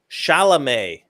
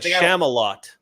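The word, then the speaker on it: Chalamet: man good luck uh the way you pronounce Timothy uh Timothy's last name is shalam shalam which sounds like Charlamagne so I could understand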